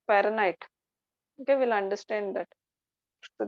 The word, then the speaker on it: Fahrenheit: H is silent, Fahrenheit.